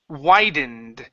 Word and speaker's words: widened: when didn't ok now what you're doing you're adding an end right in here saying widened instead of whined and it's why dind widened where didn't why